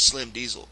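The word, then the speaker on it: Slim DZL: Now you have an artist that you love to talk about by the name of Slim Diesel, and it's spelled DZL.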